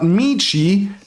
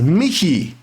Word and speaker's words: Michi: I would like to think that the name is not Mii, but it is actually pronounced Miki, which is short for Mika, the German version of the name Michael.